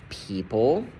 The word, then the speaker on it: people: It is a long e for words like people. People long e silent o.